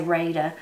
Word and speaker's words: Rada: it is made by rada rada rada every how you say it people i've heard people say it all different ways we say reda but r-a-d-a and you can find